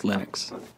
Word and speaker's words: Linux: people pronounce my name but linux is always linux he developed a kernel